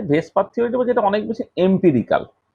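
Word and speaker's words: VSEPR: Pair repulsion theory বা ভেসপার theory, যেটাকে pronounce করা হবে VSPR, এই যেটা আমি মুখে বলছি ভেসপার এইরকম করে।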